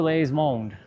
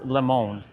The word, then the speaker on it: le monde: Hello world, bonjour les monde. It's not les, it's le monde.